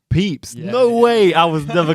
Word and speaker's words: Pepys: want to say it wrong how do you pronounce it peeps peeps no way I was never gonna say like